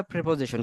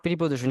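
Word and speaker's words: preposition: হয় ইংলিশে বলা হয় প্রেপজিশন কি বলা হয় প্রেপজিশন বলা হয় প্রেপজিশন টা নট প্রিপজিশন কি হবে প্রেপজিশন এই প্রেপজিশনটা কেন আমাদের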